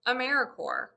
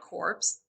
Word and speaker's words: AmeriCorps: way americorps is pronounced americorps not corpse we are alive and well like the core of the earth or the marine corps the sea is always